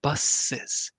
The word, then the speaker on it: buses: small little tip with the word bus in plural, it's one of the few words where we do pronounce the S as a second, um, kind of as a second sound. So we would say buses.